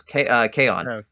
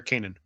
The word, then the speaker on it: Kanan: to see a young the guy from Rebels, Kaon. Kaon? Or Kanan.